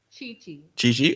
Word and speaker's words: Chichi: Chichi. Oh, it's pronounced Chichi.